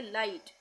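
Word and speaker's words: light: टी में आया हुआ जी एच ये हमेशा साइलेंट रहेगा यानी इसका उच्चारण नहीं करेंगे जैसे एल आई जी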